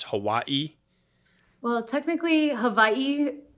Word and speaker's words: Hawaii: it's Hawaii well technically Havi it's kind of like a lot of W's become a v in Hawaiian language but I'm not Hawaiian